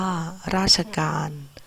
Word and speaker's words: ราชการ: กึ่ง เสียง ระหว่าง คำ เช่น ราชการ อ่าน ว่า ราชการ ภาพยนตร์ อ่าน ว่า ภาพยนตร์ คณิตศาสตร์ อ่าน ว่า คณิตศาสตร์